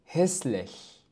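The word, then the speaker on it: hässlich: هسلش قبيح. هسلش قبيح. نلاحظ هنا بأن مقطع التساولها في كلمة هسلش نطق على أنه إش. إش. والسبب أنه لم يسبق بحرف أس.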